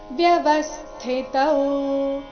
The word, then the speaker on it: ವ್ಯವಸ್ಥಿತ: ಔಕಾರ ದೀರ್ಘ ರಾಗ ದ್ವೇಷೌ ವ್ಯವಸ್ಥಿತ ಸ್ಥಿಲ್ಲಿ ಥಿ ಮಹಾಪ್ರಾಣ ರಸ್ವ ಬರಬೇಕು ವ್ಯವಸ್ಥಿತ ತಯೋರ್ನ ವಶಮಾಗಚ್ಚೇ ವಶಮಾಗಚ್ಚೇ ಗ